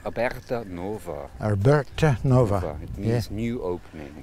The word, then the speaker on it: Aberta Nova: any further can you tell me the correct pronunciation of your company's name yeah the company name is called about Nova Herbert Nova yes new opening new opening that's